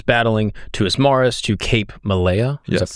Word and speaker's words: Malea: And for the guy listening right now, this is basically Troy, where, of course, Odysseus is battling, to Ismaris, to Cape Malea. Is that pronounced correctly?